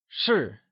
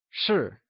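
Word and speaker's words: 是: etc translates to sure sure is pronounced using a falling tone or the fourth tone can you try and say sure it is said with a falling tone also known as the fourth tone like sure good job now that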